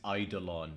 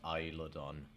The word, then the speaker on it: Eidolon: Just FYI, I pronounced that wrong last time. It's Eidolon, not Isladon.